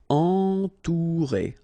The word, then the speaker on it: entourer: Okay, nasal, en, then O and U together, ou, entourer, entourer.